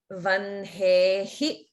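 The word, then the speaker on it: vahne: And here notice that in the word vanhehi, the H and the N get pronounced in the opposite order.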